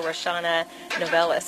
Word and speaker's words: Roshawnna Novellus: reshawna novellas am i pronouncing it correctly oh yeah okay great well